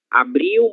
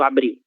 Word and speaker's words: abril: Como eu comentei com vocês, e eu sempre vou comentar para que vocês nunca esqueçam, a letra L, ela tem som de U em posição final de sílaba, certo? abril, abril, maio e junho, né?